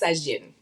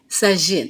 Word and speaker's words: Sagine: But yes, it's pronounced Sagin. Sagine. I Yes.